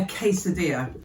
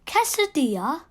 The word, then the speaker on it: quesadilla: they call it a quesadilla quesadilla that's a funny word it doesn't even start with a cave you spell it like